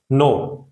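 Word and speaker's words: know: नो, नो में के silent है, ठीक है?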